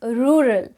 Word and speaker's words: rural: have this word and it is the most difficult word to pronounce for many of you because of the two raw pronunciation in this so it is rural rural rural rural it's